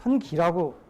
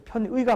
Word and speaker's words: 편의: 계량경제에서 나오고 통계학에서 나오는데 편기라고 좀 잘못 근데 편의가 맞습니다. 이거는 편의 바이어스란 말을 한자어가 이제 읽을 때 어떤 사람은 기라고 읽기도 하는데 편의가 맞고요.